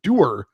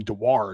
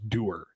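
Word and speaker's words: Dewar: cross check to the face of Pittsburgh's Connor Der, which is how it's pronounced. I've been calling him Dwire because there is a W in there, but apparently it's pronounced Der.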